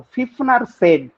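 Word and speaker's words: Pfiffner: फिफनर said, spelling देख लीजिएगा, PFE IFFNER, फिफनर, PFE IFFNER, फिफनर said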